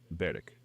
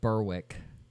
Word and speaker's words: Berwick: 20 miles east of Edinburgh along the f of fourth lies a coastal town named North Beric. And yes, that is going to be the last time I pronounce this in the Scottish way.